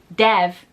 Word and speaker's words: Dev: audio book for this his name is spelled deev which to me is Dev and they're calling him Dave in the audio book and it's really frustrating